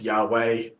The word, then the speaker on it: Yahweh: in in the scripture so people just kind of pop their own vows in um so you get an A and an e in there and it's Yahweh put a e o